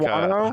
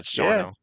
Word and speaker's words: Shawano: You said it, Shano, you said it like Schwano. you said it how the GPS says it. GPS says Yeah, Shawano, but it's yeah. Shawno. There's like Oh, no I A. The said it phonetically. A is silent.